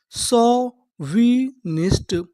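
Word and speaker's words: chauvinist: अगर आपको इंग्लिश में कहीं पर ए यू लिखा मिले तो हम लोग ए यू को पढ़ते हैं ओ।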